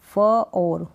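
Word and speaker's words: for: Next है ओ आर, ओ आर को यानी ओ और जब भी आर आएगा ना तो ऐसे ही आपको प्रोनाउंसिएशन मिलेगा, मतलब आर का जो साउंड है या तो आधा होगा या फिर बिल्कुल नहीं होगा, तो ओ या और। जैसे कि ये है एफ ओ आर, फ और, फोर, क ओड, कोड।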